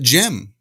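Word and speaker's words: Gem: And it wasn't until just very recently that I realized it's not Jim, but Jim. Yeah. Ah. Right. G-E-M. Gotcha. It's all in the pronunciation.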